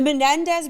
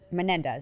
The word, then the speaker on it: Menendez: Um the Mendez brothers like intrigued me. Is that Am I saying that wrong? I feel like you guys are laughing at me. Am I saying it wrong? Menendez.